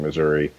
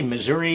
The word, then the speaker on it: Missouri: that Missouri has not how do you say Missouri you say Missouri I I was always trained to say Missouri now what's the line where where is the geographic difference between Missouri and Missouri sometimes there's a geographic